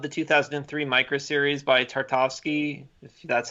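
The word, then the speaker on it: Tartakovsky: I also loved the 2003 micro series by Tarte au ski that's how you say his name I mean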